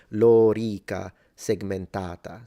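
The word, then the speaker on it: lorica segmentata: So the O is long, just like Lorica, segmentata. So the A in segmentata is long, and both the O and E in lorica are both long.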